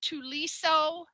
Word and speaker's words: Thuliso: name is he's so it's spelled with an H though but he just told me earlier that the H is silent so it's um I